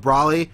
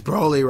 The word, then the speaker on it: Broly: know it's Broly right you say you love Brolly but his name is Broly right but like I I've read his name